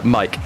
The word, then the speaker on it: Mike: Thank you, by the way, in chat for telling us that it's Mike, not Magic.